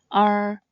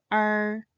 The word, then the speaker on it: er: The last compound final is R. It should not be confused with the basic final uh this compound final starts with the sound and should end with a curved R sound similar to the sound a pirate might make.